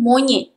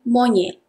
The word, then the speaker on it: monyet: Formal pronunciation, monyet. Monyet. But nobody say like that. We all say informal pronunciation, monyet. Monyet. T is hardly also audible.